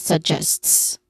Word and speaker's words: suggests: So pronunciation wise, we focus on suggests, which has where the second syllable is stressed. So this is suggests. Again, suggests.